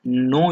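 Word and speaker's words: know: होता है वह है नो your customer नो your customer यहां पर कि होता है साइलेंट होता है उसको बोलते हैं नो योर कस्टमर जिसका साधारण हिंदी में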